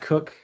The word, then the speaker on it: Koch: It looks like Koch, but it's actually pronounced Cook.